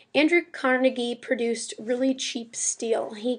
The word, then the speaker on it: Carnegie: is a man named Andrew Carnegie um or carnegi depending on how you want to pronounce it Andrew Carnegie produced really cheap steel